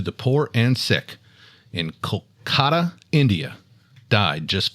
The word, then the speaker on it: Kolkata: of service to the poor and sick in Kolkata, India died just 5 days after Diana? Say that location one more time. Didn't sound right. Kolkata. Kolkata.